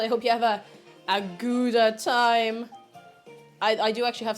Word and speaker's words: Gouda: Yeah, it's not pronounced Gouda in Dutch. It's like Gouda or something.